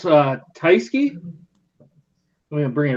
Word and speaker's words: Tyskie: I think it's pronounced Tyskie.